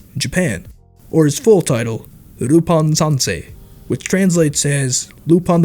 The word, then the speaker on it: Rupan: translates as lupon iii because the name was pronounced as rupan japan that allowed him to avoid copyright issues since the original name lupon troubled the owners of leblanc's estate back in france but rupan brought over a loophole you see urupan is definitely a different name as there's no longer an l at the beginning of the work and